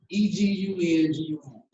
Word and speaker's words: Egungun: You spell that E-G-U-N-G-U-N, Egungun.